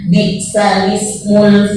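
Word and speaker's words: بِئْسَ الِاسْمُ: Naql itu artinya memindahkan baris huruf kepada huruf yang mati sebelumnya. Dan alhamdulillahnya cuma satu juga di Al-Quran. Pada Quran surah Al-Hujurat ayat 11, pada kata bi'sal ismu kita bacanya bi'sal ismul fusuqu ba'dal iman.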